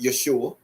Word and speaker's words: Yeshua: of let's just say Jesus right um properly pronounced Yeshua right it can be